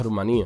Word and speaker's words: Rumanía: Seguimos en Europa y ahora nos vamos a Rumanía, o Rumania, porque generalmente se le dice Rumania, pero como tiene tilde en la I, la correcta pronunciación sería Rumanía.